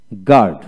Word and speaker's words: guard: তারপর গিটার গিটার, গার্ড GUARD গার্ড গার্ড, গার্ড বানানটা হচ্ছে GARD গার্ড, একটু দীর্ঘ উচ্চারিত হবে গার্ড গার্ড।